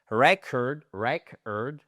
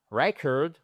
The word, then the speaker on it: record: disque vinible, l'enregistrement c'est record, record et record c'est un enregistrement, un disque. D'accord ? et record. En fait, vous passez de l'accentuation sur la première syllabe à la seconde syllabe.